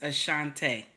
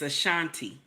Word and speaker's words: Ashanti: for a Shanti now I know we say the name differently but it's a Shante right but it's a Shanti anyway that's how we pronounce different names here in America don't we we always